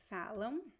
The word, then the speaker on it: falam: You see, I don't pronounce the M at all. Falam, falam. I don't say falam. Nope. Falam, falam. Okay? So it is a diphthong sound. Even though there is no diphthong here, phonetically it is a diphthong, a nasal diphthong.